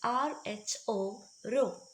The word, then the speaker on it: rho: so this letter is Rho we will be pronouncing it as rho0 mass will be expressed using small letter M